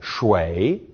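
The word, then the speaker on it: 水: different meaning for example shui with a falling and rising tone means water but shui pronounced with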